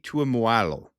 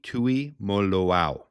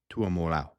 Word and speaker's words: Tuimoloau: You got Jack Sawyer and JT Tuimoloau. I got his name wrong. It's Hawaiian. JT Tuimoloau. Tuimoloau. Anyways, we're close.